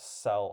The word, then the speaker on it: cel: Um, there is a word cel pronounced cell also, but that's only reserved for comic book comic strip cells.